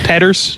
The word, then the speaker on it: Peters: It's pronounced Petters, I believe.